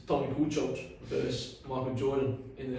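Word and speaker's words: Kukoč: It's not Tony Kukoc, it's Tony Kukoc.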